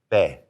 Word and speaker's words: be: You put your lips together like you're going to say the letter P, but then just use it as a starting point and just say be. Try to take that air out.